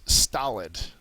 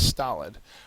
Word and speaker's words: stolid: The next word is stolid. And it's pronounced just like solid, but just a T in front. So it's stolid.